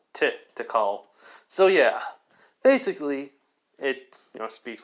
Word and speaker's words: Tikal: I think I've been saying that wrong. Chakal, something. Okay, I was saying it wrong, not shit, it was Tikal.